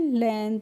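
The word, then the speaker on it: length: हम क्या पढ़ेंगे लेंथ इसको हम पढ़ते हैं लेंथ इसमें जो जी होती है इसको हम साइलेंट करते हैं यानी कि इसका उच्चारण हम नहीं करते हैं इसीलिए हम इसको पढ़ेंगे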